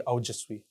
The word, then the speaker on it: Aojasvi: So actually, the pronunciation comes out to be Aujasvi.